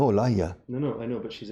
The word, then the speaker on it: Olaya: My name is pronounced Olala. No, Olaya.